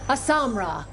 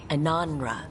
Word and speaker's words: Ananra: Asamra. That's Kunlat for congratulations, right? You might want to try Ananra. You just said, "We are doing you." I was saying it wrong all this time.